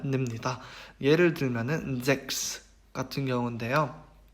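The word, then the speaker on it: sechs: CHS가 붙어서 크스 발음을 냅니다. 예를 들면은 잭스 같은 경우인데요.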